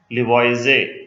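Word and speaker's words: Lavoisier: फिर 1789 में एंटोने लिवॉइजे, ये ईआर यहाँ पे साइलेंट है, लिवॉइजे group elements based on their properties into gases, non metals, metals and earth's.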